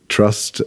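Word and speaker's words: TRST: at mon M it was all um the trust album do you know the band The the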